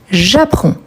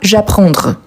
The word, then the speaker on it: j'apprends: ver du trè groupe j'apprends j'apprends ok pas j'apprendre non j'apprends donc ici je ne prononce ni le D ni le S mais je les écrit quand même ensuite on a le